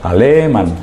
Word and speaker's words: Aleman: Es sin tilde, es llana, acaba en N, no lleva tilde. Alemán.